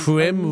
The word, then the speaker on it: Prim: Prim rhymes with grim.